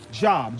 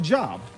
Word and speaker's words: Job: Job, J-O-B. What else does that spell? Job. But Job, job, same three letters but different pronunciations.